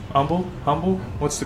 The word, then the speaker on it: Humble: a cigar shop in humble humble humble what's the correct humble eight away from Texas you don't pronounce the H correct yeah humble in